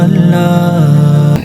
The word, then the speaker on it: اللہ: کوئی نقطہ نہیں ہے۔ اب اللہ کا ذرا تلفظ کریں اور سمجھیں کہ آپ اسے کیسے ادا کرتے ہیں۔ آپ اس کے حروف کو اپنے حلق کے پچھلے حصے سے ادا کرتے ہیں بغیر ہونٹوں کو حرکت دیے۔ اس کا مطلب ہے